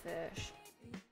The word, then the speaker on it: ghoti: the word fish so GH pronounced f as in tough oh pronounced uh as